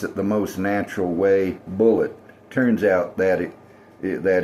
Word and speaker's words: Bulleit: I'm just going to pronounce it the most natural way. Bullet."